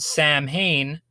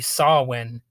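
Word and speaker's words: Samhain: project which is called Sam Hayne but I know I know the proper pronunciation is supposed to be sawin or something like that you spell it Sam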